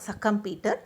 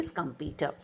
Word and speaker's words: Schumpeter: No, it is not Schumpeter. You need to pronounce Joseph A. Schumpeter.